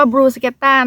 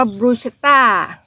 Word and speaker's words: Bruschetta: ไป ทำ บรูสเกต้า ค่ะ ออก เสียง ว่า บรูสเกต้า นะ คะ ตาม แนว ของ คน อิตาลี ค่ะ แต่ ถ้า อ่าน รง ตัว ตาม ภาษา อังกฤษ จะ อ่าน ว่า บูต้า แล้ว แต่ เรา จะ